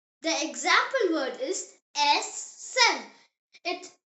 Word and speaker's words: essen: E, pronounced as A, like the E in the English word bed. The example word is essen.